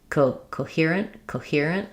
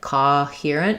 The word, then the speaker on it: coherent: And then in coherent, I really want to just keep that same kind of O shape, coherent, but keep it nice and short. So if your tendency is to do something a little bit more like coherent, you're probably opening too much, coherent. So think about closing and don't worry so much about sliding on this one, coherent.